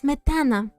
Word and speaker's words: Smetana: It's Smetana. Smetana. Okay? The way they pronounce Starshina instead of Starshina.